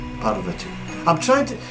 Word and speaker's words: Parvati: And their mother, Parvati. Parvati. I'm trying to. It's not easy for me to do these pronunciations, you know.